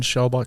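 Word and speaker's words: Schwalbach: How do you pronounce it? Jen Schaumbach Smith. Schaumbach Smith.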